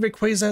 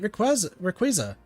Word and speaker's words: Rayquaza: Why do you want to meet Rayquaza? I'm going to say Rayquaza. I think people could also pronounce it Rayquaza, but I'm going to say Quaza.